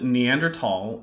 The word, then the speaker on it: Neanderthal: I pronounce it Neanderthal, and my reason there is that the only language where the digraph th makes this sound there's only a small number of languages where it makes that sound.